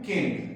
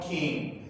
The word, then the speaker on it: can: पूरे जुमलों में कन और शॉर्ट आंसर्स में केन, लिहाजा इट is supposed to be pronounced as कन, only कन, not cane.